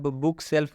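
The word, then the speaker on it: bookshelf: बुक सेल्फ में भी आप देख सकते हैं एफ से पहले एल आया है लेकिन इस एल का उच्चारण किया जा रहा है आधा लॉ से किया जा रहा है।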